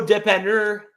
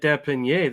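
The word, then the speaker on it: dépanneur: Oh, I know Depanneur, and that's it. Depanneur is the corner store, huh? Convenience store. Oh, I thought you meant Depanier, the quarterback. Depanneur. I thought you were pronouncing his name wrong.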